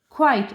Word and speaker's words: quite: When this E is here, we will not say its sound. We will say I. Because this magic E turned its name. I. Qua, quite. And this E is silent. So we will not sound it.